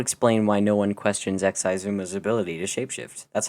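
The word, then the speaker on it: Xisuma: minecraft that would explain why no one questions xizuma's ability to shape-shift that's how you pronounce that by the way it's exciting can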